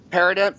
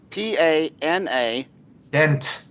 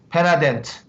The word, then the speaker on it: Panadent: Perident, Perident. Yeah, P-A-N-A. P-A-N-A. Dent. Panadent. P-A-N-A dent. Panadent. Panadent, yes.